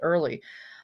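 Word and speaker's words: Oehrley: She says, "Pronounce it early."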